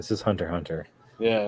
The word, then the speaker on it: Hunter x Hunter: I thought the X was basically silent. This is Hunter x Hunter.